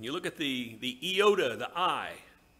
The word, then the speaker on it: iota: iota not one iota i like to pronounce it iota so it's distinct from the hero in star wars yoda sounds too much like him but that letter is